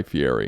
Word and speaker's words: Fieri: By the way, it's pronounced Fieri.